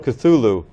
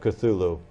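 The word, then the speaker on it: Cthulhu: brought up the pr somebody had asked him about the pronunciation of cthulu and he said Well it can't really be pronounced by the human tongue but you have to use your glotus and the closest approximation that human speech can come toward uttering cthulu is CLA it's kind of a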